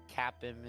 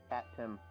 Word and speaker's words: Capim: cream in our that Capim is kind of famous for now, apparently. Cat Pim. 2 syllables. Cat Pim. Capim. So they got to have some ice cream.